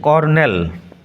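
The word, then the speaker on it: colonel: উচ্চারণ লক্ষ্য করো বানানটা বানানের সাথে উচ্চারণের একটু মিলের অভাব রয়েছে কর্নেল কিন্তু বানান আর নেই সি ও এল ও এন ই এল কর্নেল জন হান্ট কর্নেল হচ্ছে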